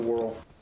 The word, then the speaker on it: Whirl: Lord of the Whirl. We'll do it. Think of it being the first half of Whirlpool. And that's how you would pronounce that.